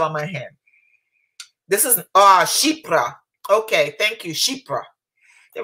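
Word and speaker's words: chypre: This is, Chipra.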